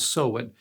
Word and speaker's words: Samhain: So they had a holiday on October 31st called Samhain. It's not spelled that way, but that's how it's pronounced, Samhain.